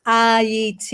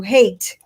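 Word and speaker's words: Ayiti: do appreciate it iet the reason the name is iet and as most of you probably know pronunciations are very important the european changed it to hate for a reason he changed it to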